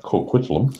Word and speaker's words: Coquitlam: Well, Coquitlam, pronounced Coquitlam, Okay, thank you.